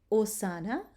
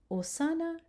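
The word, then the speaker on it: hosanna: Now the letter H is silent, okay? No sound. So you have these two words, osana, osana, or cherubim, okay? You have the hard k sound for the C. The H is silent, osana, cherubim.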